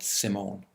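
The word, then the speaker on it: S1m0ne: It's better pronounced S1M1 because it is actually spelled S1 M-O-N-E and pronounced Simone, but it was written as S1M1, which meant that it was simulation number 1.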